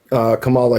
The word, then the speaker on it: Kamala Harris: Okay, now let me ask you what it is that you support about Kamala Harris. So her name is pronounced Kamala.